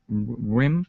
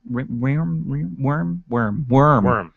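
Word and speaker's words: Wyrm: Rim? Is that how you pronounce it? Worm.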